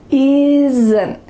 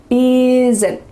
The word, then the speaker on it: isn't: A lot of words that have 2 consonants side by side, S and an N in this word, are going to have a little added schwa sound.